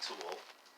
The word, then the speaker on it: Thul: they're all under hd tool last name spelt t-h-u-l it's not spelt the way it sounded that's why i spell